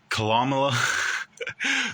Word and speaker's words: Kamala: Kamala, the vice president, VP, was on the BET